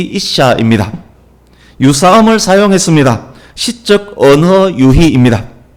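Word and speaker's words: אִשָּׁה: 남자, 여자, 히브리 발음으로 이쉬, 이샤입니다.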